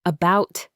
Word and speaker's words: about: It's the sound in the first syllable of the word about. About.